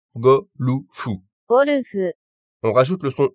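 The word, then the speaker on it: ゴルフ: En japonais, on a le même mot à la base, mais la prononciation se fait en fonction des sons disponibles en japonais. Et ça nous donne go, lu, fu.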